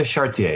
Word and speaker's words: Charretier: No, Elsa is fine. Charretier is fine too. I wouldn't ask you to pronounce it in French. I say Elsa Charretier.